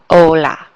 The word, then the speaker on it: hola: It's like you're dropping that H and you just start with the O, hola.